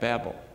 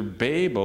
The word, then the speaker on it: Babel: confounded by God at Babel. Now, how do you pronounce that? Well, did you know the dictionaries have two different pronunciations? It's either B-A-H-B-E-L or B-A-Y-B-E-L. So it's either Babel or Babel. It doesn't matter how you